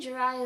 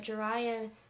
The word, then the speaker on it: Jiraiya: And to me, Jiraiya is not really that out there. Maybe the spelling throws people off as far as them thinking it's weird or odd, but Jiraiya sounds so much like Jeremiah, I don't see how it's that weird.